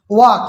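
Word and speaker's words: walk: Palm, इसको एल जो है एम से पहले आया है तो एल को साइलेंट करना है। वाक, इसमें के से पहले आया है तो हमने वाक बोलना है।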